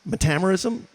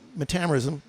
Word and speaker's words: metamerism: may hear quite often it's pronounced different ways metamoris metamerism uh potato potato tomato tomato uh again as it pertains to cinema lighting now so metamoris that's how I call it refers to the